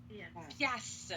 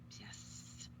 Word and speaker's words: piastre: ne prononce pas le R et je ne prononce pas le T. Donc, ça sonne piastre. Pias. Piastre. OK? En vert, vous avez la prononciation. Et surtout, là, je vais vous écrire la mauvaise prononciation. OK? C'est pas pièce, c'est pas est, c'est avec un A.